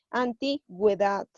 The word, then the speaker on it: antigüedad: Nos sirve para dar sonido a la vocal U, en sílabas que sean ge o gui. Por ejemplo, a ver. A ver. Si yo pondría esta palabra sin diéresis, sería antigüedad. Pero como yo voy a poner la diéresis, vamos a pronunciar la U y sería antigüedad.